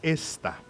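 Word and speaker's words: Estha: Se casó con una mujer llamada Esta. E-S-T-H-A, no esta. Aclarando. O sea, se pronuncia gesta. No, No. porque no lleva H.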